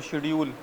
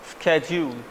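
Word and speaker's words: schedule: ठीक, शेड्यूल भी बोला जाता है इस वर्ड को, शेड्यूल, but actual pronunciation is स्केड्यूल, स्केड्यूल, यस।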